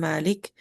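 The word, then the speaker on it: مالك: yaitu Maliki yaumiddin dan perbedaan lafaz Malik pendek dengan Malik kalau Kalau qiraah hafaz kita membaca dengan panjang Malik. Tapi qiraah sebagian qiraah misalnya warsy Maliki yaumiddin dibacanya pendek karena di segi bahasa malik akhasu min malik.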